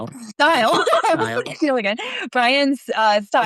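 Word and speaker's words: Steil: Republican Brian uh, Style. Style again. Brian Style. Sound like it's spelled, which is why it's it's like one of those names that Style.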